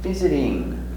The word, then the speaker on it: visiting: Visiting. Viz. Visit. Visit. Visit, simple action. Continuous. We change t, sound d.